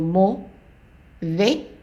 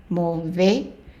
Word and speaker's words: mauvais: So mauvais, the AI again is an A, mauvais. And then we have an S.